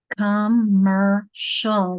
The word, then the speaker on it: commercial: Commercial, that sh, C-I is making the sh sound.